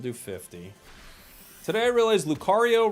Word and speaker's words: Lucario: Today I realized Lucario rhymes with Mario.